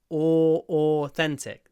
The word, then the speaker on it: authentic: Greek food food authentic with this o at the beginning othentic the double O authentic authentic Greek food